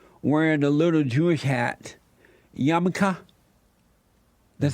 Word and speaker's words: yarmulke: And so the cartoon depicted a blind president, Trump, wearing a little Jewish hat, yarmulke.